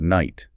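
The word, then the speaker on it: knight: In Chaucer's day, before the shift was complete and before those consonants went silent, you would have pronounced every single letter. You're kidding. Not at all. The K was not silent, it was pronounced.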